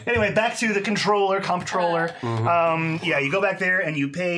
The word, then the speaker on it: comptroller: control of the Comptroller I was so mad when I heard it was just controller why does it have a P friggin break it's not